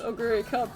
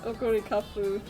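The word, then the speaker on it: Oguri Cap: I just saw Oguri Kapu. I know it's Oguri Cup in English, but it's Oguri Kapu in Japanese, and that's...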